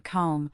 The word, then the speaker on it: comb: It is also part of the diagramraph MB where as we learned with B, the B is often silent as in lamb and comb leaving the M sound to stand alone.